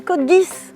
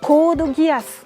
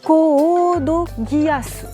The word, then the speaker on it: Code Geass: Quand c'est écrit, je dis, ah, ça doit être de l'anglais, on va prononcer Code Geass.